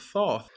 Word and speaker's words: Thoth: Because it's like a theta, where like it's gotta be a TH sound. Yeah, So exactly. it's gotta be Thoth, which is wonderful.